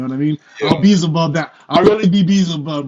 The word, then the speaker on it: Beelzebub: Actually, Beelzebub is how you say it.